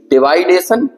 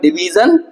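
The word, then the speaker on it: division: तो कहते हैं वो जो आप जो 2 शब्द बोलते हो ना, एक डिवाइडेशन और एक क्लासिफिकेशन, ये सही नहीं है। इसका सही उच्चारण होगा डिवीजन और फिर एक और उन्होंने कुछ बताया था ऐसा, ये होगा।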